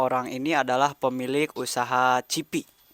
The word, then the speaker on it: CYPY: Nah, teman-teman ini dua orang ini adalah pemilik usaha Cipi. Tulisannya CYPY. CPY, dibacanya Cipi gitu ya.